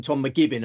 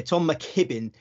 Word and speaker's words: Tom McKibbin: his name last year I would have called him Tom mcgibbon I kept getting getting his name wrong didn't I I don't know why my brain wasn't functioning properly with but yeah Tom mckibbin massive future yeah great